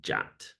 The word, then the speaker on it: JWT: Json web tokens um or JWT pronounced jat uh so first we'll